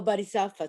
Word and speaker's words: Bodhisattva: Oh, Bodhisattva, thank you.